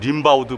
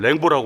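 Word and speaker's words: Rimbaud: 저게 이제 영어식으로는 림바우드 뭐 이렇게 발음해야 될 텐데 프랑스 사람들은 저걸 랭보라고 바라봤네요.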